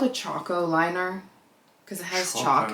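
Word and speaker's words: Chaco: honest it's called a Choco liner cuz it has Chalk in it oh okay but it's also spelled like Cho like taco like c h a c o not chalk like no I think it's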